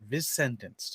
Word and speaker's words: Vicentenced: be sentenced vince's sentence is then sentenced vince vince sentence yes this sentence all right cool so like